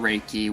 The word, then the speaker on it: Reiki: that you can get it's called Reiki which is a little different than how it's pronounced is REI ki and the Japanese form